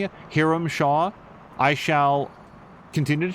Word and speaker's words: Hiram: Have you ever heard it pronounced Hiram? Because every character in this game says it is Hiram. And I'm not saying that it can't be that, it's just the less common pronunciation.